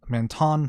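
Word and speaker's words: Entants: he doesn't mention that the um anton family uh spelled e n t a n t s the uh t is silent um the bentan family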